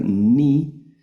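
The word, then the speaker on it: νι: como nuestra m, luego la letra ni como nuestra n, la letra ni, la letra xi que es nuestra x, ¿verdad?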